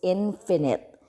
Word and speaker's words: infinite: we call infinite sequence be careful with the pronunciation with the spelling so on difference if you're going to spell is the i n however the pronunciation is different again the first one is finite the second one is infinite so the infinite sequence